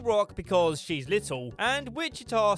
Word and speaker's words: Wichita: Little Rock because she's little, and Wichita sounds like the word witch, and she's kind of a mean girl, so it fits?